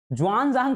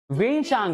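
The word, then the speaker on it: Xuanzang: ज्वान जांग करके कोई ट्रेवलर्स भारत में नहीं आया है, वेनसांग है।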